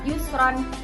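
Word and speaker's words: يسرا: Tulisannya kan yusron. Kita baca Yusro. Karena ee ini pembacaannya mad iwat. Karena harakat fathah tanwin dibaca wakaf terletak di akhir kalimat ee kecuali huruf ta marbuto. Jadi semua huruf ini bisa disebut mad iwad kecuali huruf ta marbuto. Jadi cara bacanya yusro karena dibaca waqaf.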